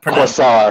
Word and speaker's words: Quasar: Or in Canada, Quasar. That's the Canadian pronunciation. That's French Canadian. Yeah, it's Quasar. Yeah. Like a croissant, but with an R.